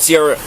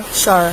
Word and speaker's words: Shara: Well, Sierra, am I saying that right, Sierra? Shara. Oh, I'm sorry.